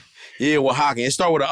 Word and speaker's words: Oaxaca: Yeah, Oaxacan. It start with an O though. Yeah, I know. It's O-X. No, for real. How you say it, Carlos? Oaxaca. Oh, Oaxaca. See?